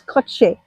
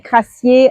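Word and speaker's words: Kratie: Ça s'appelle ça se prononce crotchet mais tout le monde dit Crassier en France donc je prononce à la française.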